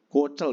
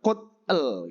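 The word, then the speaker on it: 꽃이: Kocel berarti bacanya kocel, jadi bukan kotel gitu ya.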